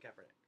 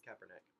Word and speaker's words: Kaepernick: With the 49ers, you have Colin Kaepernick, which I believe is how you pronounce his name. I'm not positive, but I believe it's Kaepernick, who just started not even halfway.